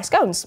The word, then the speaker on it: scones: Um, so last night I was asked by the team to make the um squashed fry scones or scones, depending on how you say it.